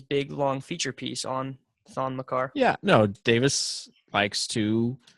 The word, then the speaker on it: Thon Maker: You're telling me a guy like Thon Maker is going to try to cover DeAndre? It's actually Thon Makar.